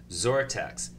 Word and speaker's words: XORTX: He's the CEO of XORTX Therapeutics, and that's not spelt with a Z or a Z. It's spelt with an X. XORTX.